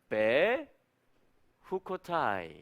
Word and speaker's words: בחקתי: 그러니까 저거는 뭐라고 읽냐면은 배 이렇게 읽어요. 그러면은 제목이 나온 것입니다. 지금 연결하면 배 후코타이 해볼까요?